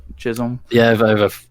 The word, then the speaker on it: Chisholm: her name shirley chisholm chisholm yeah yeah yeah it's about like stockholm but chisholm yeah if i have